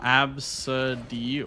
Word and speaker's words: Abcde: There's a kid in my daughter's class named AB CDE E pronounced oh Absid.